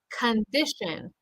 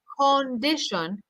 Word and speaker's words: condition: say present president or condition you don't want to say condition we want to say